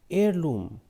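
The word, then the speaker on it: heirloom: क्या थी संपत्ति वह फैमिली एयर लूम यहां पर ह साइलेंट रहेगा तो उसी तप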